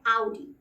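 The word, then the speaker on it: Audi: करते हुए देखा है वो इसको कहते हैं और आप भी ऑडी कहते हैं और इस शब्द का सही उच्चारण है आउट आउट और ये कर का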